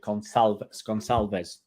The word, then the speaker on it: Gonçalves: Oh, it'll be a soft C with a swiggly bit. Gonçalves.